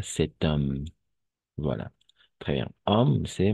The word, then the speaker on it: cet homme: cet homme n'est-ce pas et on va faire la liaison n'est-ce pas cet homme voilà très bien homme